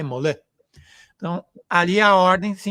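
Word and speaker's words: Molay: Jaces de Mol Molai que se escreve Molai Molã.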